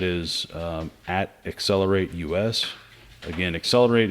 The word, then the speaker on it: Xcelerate: um accelerate us again accelerate is is spelled uh not the common spelling it's uh with an x c e l um so that's accelerate um if we go